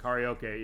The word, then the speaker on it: karaoke: you know I prefer which is technically the correct pronunciation of karaoke as far as it's not fine we say karaoke I say it that way but karaoke is the Japanese name and actually he does